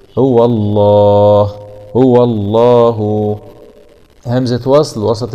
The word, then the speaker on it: الله: خاشعا متصدعا من خشية الله، وتلك الأمثال نضربها للناس لعلهم يتفكرون، هاء ضمه واو فتح واء هو اسم الجلالة، لا يتهجى تأدبا مع تغليظ اللام لأنها جاءت بعد حرف مفتوح، هو الله هو الله، همزة وصل